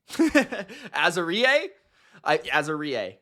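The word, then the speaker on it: Azareye'h: at number 26 we've got azer azer azer Azar I Azar that's how you pronounce it azer Thomas out of FSU okay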